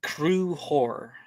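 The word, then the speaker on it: Conchobar: So it's spelled Concobar. It's pronounced Kruhor.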